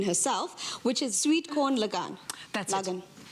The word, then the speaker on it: lagan: which is sweet corn lagang that's logan basically means wedding but the a is pronounced long the cake it's the